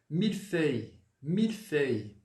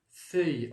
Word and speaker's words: mille-feuilles: a gente vai pronunciar feuille em francês? Folha. Feuille. Então, você vai falar, primeiramente, o que? O E. Qual que é o som do E mesmo? É o O com um biquinho.